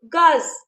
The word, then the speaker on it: gaz: Gaz. Lu. Gaz. So here we are pronouncing the letter Z.